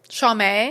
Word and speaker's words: Chaumet: That's why I literally had to write it out SHAW/MAY to make sure that I said it right.